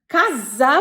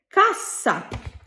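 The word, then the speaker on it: cassa: Italian ভাষায় এস এর দুটো উচ্চারণ আছে।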